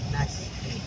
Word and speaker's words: Nasque: Nasque pala yun. Nasikoy. Nasque pala bigkas doon. Naski.